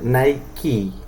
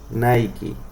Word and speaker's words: Nike: estoy diciendo, en donde cuando la palabra en inglés termina en E no se pronuncia, excepto cuando está la K. Entonces por eso es que esta marca Correcto. se pronuncia Nike. Nike.